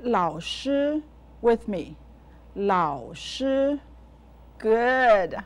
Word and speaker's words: 老师: I'll say the syllables of 老师 slowly. La, ao, lao, lao, shi. Now, say 老师 with me. 老师.